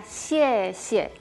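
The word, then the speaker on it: 谢: ejemplo de consonantes vimos ya, por ejemplo, la palabra gracias era she, esa x que se pronuncia como sh de cuando pedimos silencio.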